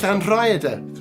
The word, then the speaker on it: Llanrhaeadr: How do you pronounce that? Llanrhaeadr.